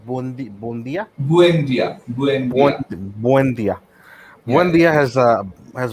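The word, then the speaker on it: Buendía: যেটা হচ্ছে যে Arsenal are losing out on Emi Buende it seems because Emi's decided okay, How do you pronounce the last name? Buendia.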